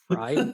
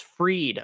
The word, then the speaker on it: Freed: Oh, it's freed. Okay. Fried. Yeah. Freed. Yeah. You got Laxus. Usually it's spelled differently when I read it as freed. So, usually there's an E at the end of fried.